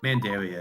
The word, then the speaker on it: Mandaria: Mandaria is how I usually say it, but I can't really be too picky on pronunciation. I guess I can because I'm the one who made it. I say Mandaria. Mandaria it is.